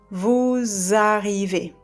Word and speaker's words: vous arrivez: For example, vous arrivez becomes vous arrivez. So usually we don't pronounce the last consonant, right? At the end of a word, especially the S.